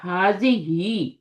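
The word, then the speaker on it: هذه: اٹ از pronounced حاضی ہی، اس کو حاضی پڑھتے ہیں. بٹ دا الف از omitted in writing.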